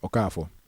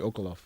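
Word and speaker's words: Okafor: Okafo, standard proper Abagana last name. She called me Okalof. And you know, in my lifetime, I've heard Oakfor. I've heard, you know, some just some funny just butchering version butchered versions of my name.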